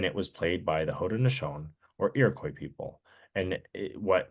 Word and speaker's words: Haudenosaunee: Is it the Haudenosaunee, right? That's how you pronounce it. Haudenosaunee.